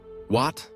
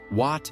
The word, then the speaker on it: Wat: In spoken Khmer, Wat is lighter, less assertive, yet brimming with significance,